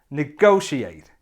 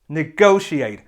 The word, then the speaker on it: negotiate: It has 4 syllables and the stress is on the second syllable. So it should sound like this. Negotiate. Negotiate.